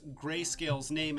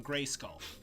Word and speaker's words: Grayscale: Now, we could do a drinking game for every time that I mispronounce Grayscale's name and call him Grayskull.